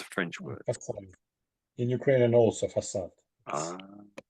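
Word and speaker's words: façade: It's French sort of pronunciation and the C comes out as an S. Try try this. Try the C as an S. Maybe facade.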